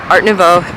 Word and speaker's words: Art Nouveau: the Art Nouveau, that's how you say it, Art Nouveau area of Riga.